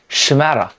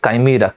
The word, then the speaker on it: chimera: that is called chimera western people at times they pronounce it as shimara so but i prefer pronouncing it as chimera chimera is a wild